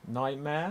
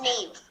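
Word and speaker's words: Niamh: Do you have, says Nightmare? It's pronounced Neve. Her name is Neve, of course it is.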